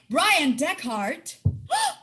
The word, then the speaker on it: Bryan Dechart: like oh are you there it's live with brian deckhardt did i say it right you nailed